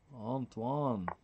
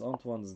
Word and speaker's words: Antoine: Antoine. I pronounced, ooh, queen h6, by the way, would have ended the game. I pronounced Antoine's name in the American way. French would be Antoine.